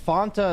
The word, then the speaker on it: Fanta: In Scotland, we say Fanta to rhyme with Santa. Oh, okay. That makes sense. That's how I say it too. It's okay. I mean, Fanta is a very simple drink, guys.